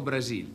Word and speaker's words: Brasil: Cos'è, però, mi ha detto, noi pronunciamo male, come si dice? Si dice Brasil, però... Ah, come si dice? Brasil.